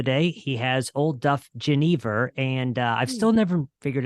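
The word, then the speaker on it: genever: He has Old Duff Geneva, and I've still never figured out what the exact proper pronunciation for the term is. But anyways, Freeland has Geneva. Is that how you guys actually call? It is.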